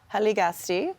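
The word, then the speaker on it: Hiligaxste': And again, you're going to forgive my probably bad pronunciation here. Hiligakste? Haligasti okay.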